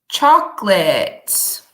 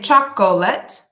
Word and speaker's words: chocolate: one of the best chocolates okay so the pronunciation of this word is two syllables not three so we don't say chocolate we say chocolate hmm and in these